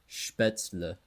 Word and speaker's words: Spätzle: A shot on the bridge between Ulm and Neu Ulm, with Linn between two states, and then for dinner, Spätzle, as it's properly pronounced.